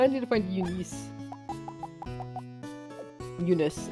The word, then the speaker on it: Eunice: Eunice, actually. That's how you pronounce it. I don't know why I say Eunice.